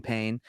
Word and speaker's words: Payne: teach it is painless, like my name Payne.